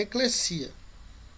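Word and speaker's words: ἐκκλησία: A gente usa muito a palavra eclesia. Você já deve ter usado, né? Mas se for usar ela no grego, a pronúncia é eclesia. Nunca tem som de Z, sempre som de SS.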